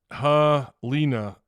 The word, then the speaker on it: Helena: uh m Michael Kerper says Helena Alabama's pronounced Hina oh is it helina is that just like